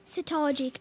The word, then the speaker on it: cetology: Cetology, am I saying it correctly?